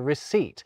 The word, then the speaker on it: receipt: And they introduced that pretentious P into receipt.